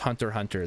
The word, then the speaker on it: Hunter x Hunter: It's Hunter x Hunter, but it's pronounced Hunter Hunter.